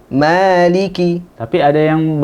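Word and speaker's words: مالك: Nah, di sini dalam riwayat Imam Hafiz yang biasa kita pakai ya, qiraahnya Imam Asim, di sini dibaca 2 harokat. 2 harokat. Tidak dipendekkan. Bukan maliki, tapi maliki.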